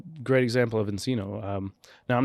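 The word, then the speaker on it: nCino: a very custom say a company that rhymes with cappuccino cappuccino okay so Kyle's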